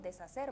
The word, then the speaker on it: deshacer: Nosotros decimos deshacer, ¿verdad? Sin pronunciar la H, porque eso es un fonema que no tiene sonido.